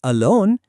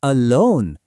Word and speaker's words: alone: Look at these examples. It's not alone. It's alone. Not become but become. Really feel that stress.